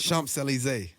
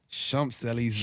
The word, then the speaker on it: Champs-Élysées: Okay, so I don't even know how to pronounce the song because it's Champs-Élysées. Champs-Élysées. Champs-Élysées.